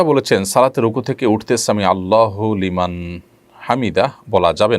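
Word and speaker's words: سمع الله لمن حمده: ফেলেছেন দেখুন সামি আল্লাহু সামি আল্লাহু লিমান হামিদা এটি হলো শব্দের সঠিক উচ্চারণ সামি আল্লাহু লিমান হামিদা সামি আল্লাহু লিমান হামিদা এটা সঠিক উচ্চারণ নয় থামতে হবে সেখানে যেখানে মানুষ ওয়াকফ করবে ওয়াকফ না করলে সেখানে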